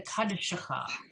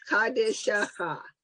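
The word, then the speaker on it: קדשך: Okay, That's so 4 syllables. Kadishaha. no, it's really not. It's the kadshecha. It's really 2 syllables. Okay, but for purpose of you guys, you know, breaking it down carefully, then yes, you can do that. But it's really kadshecha is how it's pronounced.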